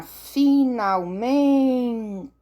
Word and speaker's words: finalmente: Agora vamos para finalmente. Finalmente, a minha sílaba tônica é o men.